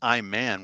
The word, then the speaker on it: Iman: interest there wasn't it iman iman that's right well it's spelled i man that's all i'm i'm